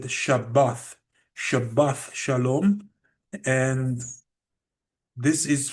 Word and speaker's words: Shabbat: For example, the word Shabbat, my ancestors did not say Shabbat. My ancestors said Shabbath, Shabbath Shalom, and this is from the Northern Kingdom.